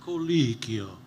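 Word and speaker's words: Colicchio: __ ] it up say Pinocchio Pinocchio say kikio kikio there you go Victor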